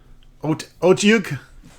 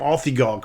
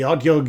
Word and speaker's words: Otyugh: Otyugh? I think that's how you pronounce it. I used to call him Althigog for the longest time. I guess you just roll your tongue around your mouth and make a disgusting noise with it.